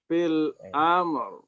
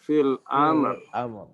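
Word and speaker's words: في الأمر: Fil amr. Ya. Nah, di sini beliau ya meminta untuk dibaca apa? Agak naber di huruf ketiganya. Maaf. Hamzahnya. Fil amr. Maka di sini bacanya agak ditebalkan. Ya. Fil amr.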